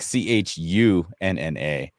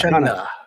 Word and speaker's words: Chana: if I were to say it like my family says it, like we would in Sri Lanka, but if you would imagine, it's like CHUNNA.